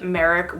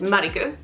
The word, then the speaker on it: Marik: into the unboxing itself there's a reason why I call him Yami Malik instead of Merrick which is how he's pronounced in the American English dub now in Japanese his name is marikou and the re and Lee sounds are pretty much the same you could easily argue